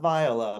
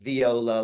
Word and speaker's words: Viola: Viola Villa, not Viola, but Viola, like the instrument, because I want it to be all music related.